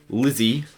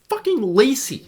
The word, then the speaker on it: Lisey: woman lisey yeah and it's pronounced lazy by the way too it literally has a pronunciation in the start of the book i see so many people calling it lizzy or lysey and like it's just it's it's lacy look what the [